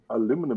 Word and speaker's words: aluminum: that's my mission first aluminum Aluminum stock aluminum aluminum aluminum it's pretty much sure why they pronounce it with an extra I in there but again I also